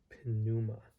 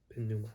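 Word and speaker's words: πνεῦμα: spirit he says remember in greek there is no silent consonants so the p is pronounced unlike in english where for example the p is not pronounced in the word uh pneumatic pinuma pinuma okay prophet voice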